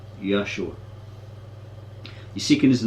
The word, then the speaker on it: Yeshua: jesus in english he felt that the name yeshua should be pronounced correctly yah sure you seeking is the name of allah allah is